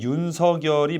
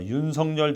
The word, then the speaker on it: 윤석열: 원래는 윤석열이 맞는 발음이지만 어 윤성열 전 대통령이 본인은 윤성열로 어릴 때부터 불려왔고 그렇기 때문에 불러 달라 이렇게 말을 한 바 있기 때문에 그런 거니까 윤석열이든 윤성열이든 상관없다.